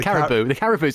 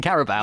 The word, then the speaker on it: Carabao: I think the FA Cup's good, but the Caribou's an animal. You mean Carabao?